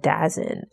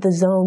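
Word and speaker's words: DAZN: a few years ago I thought it was pronounced dazen it took hearing people mentioned the Zone multiple times to realize that's how the like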